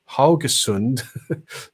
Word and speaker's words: Haugesund: When Ingvar pronounces Norwegian city of Haugesund, the ow is the same sound as the UI in Sudam.